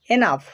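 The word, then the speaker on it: enough: কিন্তু যদি জি এইচ শব্দের শেষে থাকে তাহলে ফয়ের মতো উচ্চারিত হয়। যেমন রাফ, রাফ, টাফ, টাফ, কফ, কফ, এনাফ, লাভ।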